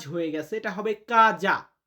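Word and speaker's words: casa: তো এখানে কিন্তু টাইপিং এ ভুল হয়েছে সেটা হচ্ছে কাজ হয়ে গেছে এটা হবে কাজা উচ্চারণটা কি হবে কাজা ইলমিও কাজা আমার বাড়ি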